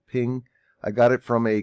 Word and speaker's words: PNG: ping that i got from a png i pronounce it ping i got it from